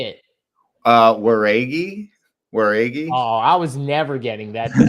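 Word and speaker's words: Jauregui: We got Yasmin Yarui. I think I said that right. Versus Ketlin Souza. Did I say that wrong? Yeah, you butchered that one. Did I? How do you say it? Waregi.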